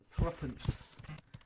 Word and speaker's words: threepence: And believe it or not, even though it looks like 3 pence, we pronounce it threepence.